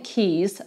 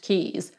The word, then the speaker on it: Caius: of october 1510 john keys spelt caius but pronounced keys was born at norwich